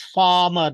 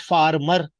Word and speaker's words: farmer: Okay, yes, here the word is farmer, not farmer, because R is not spoken. It is the rule. Okay, the word farmer has 2 syllables. First is far and other is mer. Not farmer, but farmer. Farmer.